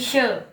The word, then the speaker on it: shi: Nah itu SHI bukan dibacanya si, tapi she ya.